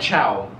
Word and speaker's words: ciao: the italian is called ciao ciao like ciao you eat yeah ciao but it's spelled c-i-a-o it's spelled c-i-a-o so